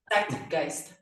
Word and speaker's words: Zeitgeist: And this album, the latest one, in Clash with the Zeitgeist, pronounce that for me again. Zeitgeist.